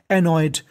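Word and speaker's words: annoyed: एनॉयड, एनॉयड, देखिए एन दो बार है, उच्चारण एक बार करना है, और आखिरी में है ईडी, तो ईडी को हमें पढ़ना होता है डा। एनॉयड, एनॉयड का मतलब होता है परेशान।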